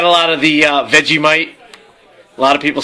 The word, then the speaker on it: Vegemite: Vegemite. Isn't that how they say it on the song Down Under? She gave me a Vegemite Sang. Exactly. Right. Not not veggie mite.